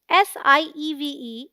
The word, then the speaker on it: sieve: SIEVE is one syllable and sounds like sieve, as in live. So the right pronunciation is sieve.